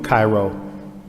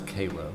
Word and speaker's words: Cairo: And only in the state of Georgia could we pronounce Cairo as Cairo. Cairo.